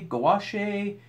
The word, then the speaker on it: gouache: it was because I didn't know how to pronounce the word. Is that gouache, gouache, gouache, gouache?